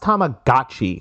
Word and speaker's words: Tamagotchi: It's pronounced Tamagotchi.